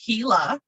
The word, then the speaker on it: Gila: woodpecker this is pronounced gila um it's a spanish word now this is a